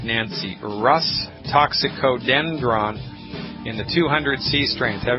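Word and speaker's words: Rhus toxicodendron: It's called Rus toxicodendron. You spell that R like Robert, H like Harry, U, S like Sam, R-H-U-S.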